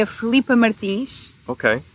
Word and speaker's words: Martins: bem o nome dela ou é tipo Martins? Martins, provavelmente é Martins. Yeah. Mas todos os nossos ouvintes vão saber que é Martins.